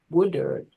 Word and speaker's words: Woodard: Yeah, Woodard? that was correct.